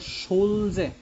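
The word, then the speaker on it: Schulze: বিজ্ঞানী হার্ডি আরেকজন হলো সুলজে ইংরেজিতে যদি উচ্চারণ করা হয় তাহলে হবে সুলজে আর বাংলায় যদি উচ্চারণ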